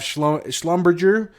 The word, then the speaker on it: Schlumberger: Nothing else interests me here on Thursday, and on Friday we have Schlumberger is how they say it.